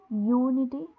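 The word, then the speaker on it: unity: है इसी तरह यूनिटी यूनिटी यू है तो वल बट साउंड यूनिटी में किसकी साउंड आ रही है वा की साउंड आ रही है यूनिटी ऐसे यू तो व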